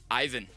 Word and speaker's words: Ivan: Ivan.